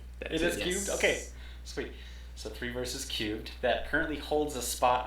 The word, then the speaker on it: Three Verses³: So 3 Verses Cubed, that currently holds a spot on Steam that everyone watching this should add to their wish list.